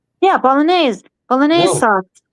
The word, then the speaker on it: Bolognese: It is pronounced the way you said that originally was Bolognese.